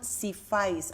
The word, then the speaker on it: SIFAIS: Y lo que quiero es que me diga por qué se llama Sifis, así se pronuncia. Sí, se llama así. Sifiz.